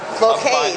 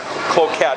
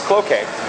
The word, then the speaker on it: Cloquet: Cloquet, that's how you pronounce it. Okay. Yeah, it doesn't look like that. It looks like Cloquet, but it's Cloquet. I only know that because I've got family that lives about 10 miles away. So. Well, it'd be like croquet.